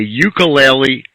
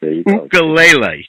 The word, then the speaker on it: ukulele: Yeah, well, it's actually made up of 2 Hawaiian words, which is uku and lele. And uku means flea in Hawaiian, and lele means jumping.